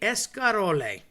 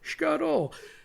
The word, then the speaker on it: escarole: It's technically escarole, okay? People call it scarole because it is escarole, literally, the veggie, the green, inside typically